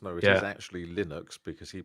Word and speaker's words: Linux: There was because there was a big thing um where people were actually It was obviously supposed to rhyme with his name.